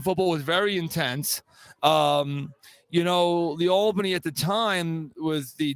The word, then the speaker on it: Albany: So the best part about Steve and I that we go back to his time in the American League, and it's pronounced Albany, just in case for those from New York.